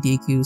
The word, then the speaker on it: Deku: to the great DQ most people pronounce it Deku remote I just I've always grown up uh saying DQ some teeny saying DQ